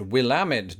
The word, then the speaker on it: Willamette: that last one which I'm reliably informed is pronounced Willamette Dam it is the perfect segue into today's